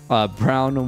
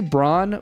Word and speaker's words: Braun: I'm going to say Braun, but look, I'm a Nuggets fan. I have Christian Brown stuck in my head. So every time I see that, I actually pronounce it Brown now.